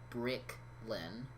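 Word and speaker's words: Briclyn: they probably are yeah yeah it's spelled b-r-i-c-l-y-n brick lynn yeah she she had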